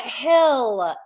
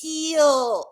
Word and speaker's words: heal: heal he he e it's not Hill there's an ill in an eill it's heel oh my God like